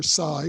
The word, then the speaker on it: psi: Psi, or the Greek letter psi, pronounced psi, is an umbrella term for certain types of psychic functioning, including telepathy, clairvoyance, precognition, and psychokinesis.